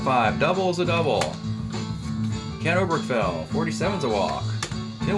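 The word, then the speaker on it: Oberkfell: base hit off of cleveland obergfell or o'brick fell uh if you want to mispronounce his name you can call him oberkel ken o'brick fails a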